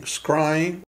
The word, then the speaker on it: scrying: and it's called scrying scrying spelled like crying with the s at the beginning we're looking for images